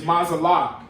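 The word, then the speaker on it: מזלג: It's mazalag. You got a ma, a za, a la, and a ga.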